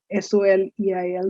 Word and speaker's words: soleil: look at something like s-o-l-e-i-l soleil so you can make an intelligent informed guess that this is about the sun simple the last l is silent it is sunny last